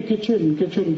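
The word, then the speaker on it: kitchen: दो एक शब्द है किट चन के आईटी सीच कहते नहीं नहीं किचन किचन के आईटी क्यों लिख रहे हो टी साइलेंट है क्यों लगाया हटा दो ऐसी मूर्खता की भाषा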